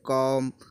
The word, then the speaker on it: comb: एम से बाद आया हुआ बी हमेशा साइलेंट रहता है। जब भी एम के बाद बी आएगा तो बी आपका फिनिश रहेगा, साइलेंट रहेगा। जैसे कॉम, अब देखो COMB, तो यहाँ एम के बाद बी आया, मैंने कहा बी को साइलेंट कर देना है, तो इसको